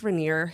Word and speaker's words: Raniere: Okay, named after the mountain? No. Okay. Just exists. The cherry? No. Okay. It's not even spelled the same way. It's not. Oh, it's not? No. Oh, okay. Oh, okay. But, I see. Yeah. No. It's Raniere. Raniere.